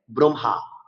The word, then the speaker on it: ব্রহ্মা: আসলে এই শব্দটাকে আমাদের উচ্চারণ করতে হবে ব্রহ্মা, অর্থাৎ হয় উচ্চারণ পরে করবে। কেন পরে করবে, কিছুক্ষণ আগে আমি বলেছিলাম যে ম একটি নসিক্য ব্যঞ্জন, ম হচ্ছে নসিক্য ব্যঞ্জন, সরি নাসিক্য ব্যঞ্জন। নাসিক্য ব্যঞ্জনের সাথে যদি হ ব্যঞ্জন যুক্ত হয়, তবে সেক্ষেত্রে হ এর উচ্চারণ নাসিক্য ব্যঞ্জনের পরে করতে হবে।